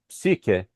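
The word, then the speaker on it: ψυχή: In English, we pronounce that as psyche, but that was known as psik in ancient Greek.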